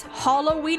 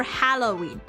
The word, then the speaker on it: Halloween: Yeah, I was asking whether it's Halloween or Halloween. Like how the A there is pronounced.